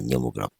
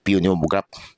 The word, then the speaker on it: pneumograph: Ah pneumograph. I ko lang. Silent letter P yan. O hindi yan Pomograph.